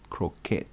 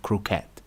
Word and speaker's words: croquet: that's an interesting word I don't know how to pronounce it so I'm going to Google it let's Google it CET yeah that's a game it's a game I think it's name Cricket c croat croat yeah pronounce it correctly to she remember trying